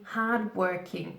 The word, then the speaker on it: hard-working: describe them as being hard-working careful here pronunciation hard-working so we link these together hard working hard working hard working for example